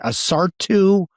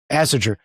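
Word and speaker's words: Ásatrú: Asartu. It's weird spells. Asatru.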